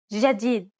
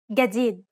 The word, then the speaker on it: جديد: This letter, for example, is pronounced like the J in jam in Standard Arabic, and in most dialects except for the Egyptian dialect. The Egyptian dialect, however, is one of the most widely understood dialects of Arabic because of the wide popularity of Egyptian media and movies. In Egyptian Arabic, this letter is pronounced like a regular English G, as in game.